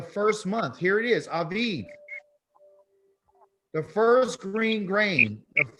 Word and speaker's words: Aviv: Abib. Okay, you pronounce it with Aviv instead of Abib.